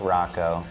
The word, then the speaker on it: Ruocco: under my name Rocco I know it's spelled weird but it's ruo C the song is too